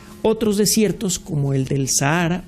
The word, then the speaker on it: Sahara: desiertos como el del Sahara o Sahara como lo pronuncian las personas que viven allá si usted quiere que